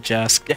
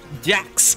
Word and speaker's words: Jax: Man, I love Jask. Jask. Jax. I mispronounced the X.